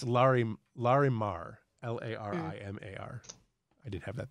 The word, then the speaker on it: Larimar: look like they are oh sorry it's larry larimar l-a-r-i-m-a-r i did have that there okay sorry